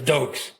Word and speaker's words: Doak: But if you say Doke, you got to say it properly. How you say Doke? Doke! That's right. Doke. It's like someone just goosed you, just sat on something like that.